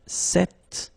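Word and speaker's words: cette: So it's quite interesting because if you listen carefully, the masculine form here, cet, and the feminine form here, cet, you write them differently, but then you pronounce them the same way.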